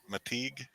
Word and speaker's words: McTeague: McTeague.